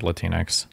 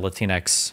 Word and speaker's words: Latinx: never use the word latinx never latinx latinx like Kleenex something it's cringe do you think it's pronounced like Kleenex or or Latin X I think it's Latin X Kleenex latinx okay yeah